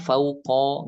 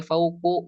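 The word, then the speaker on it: فَوْقَ: Berarti ini harus dibacanya ba'da. Ini harus dibacanya fauqo, gak boleh ba'du, gak boleh fauqu, gak boleh ba'di, gak boleh fauqi.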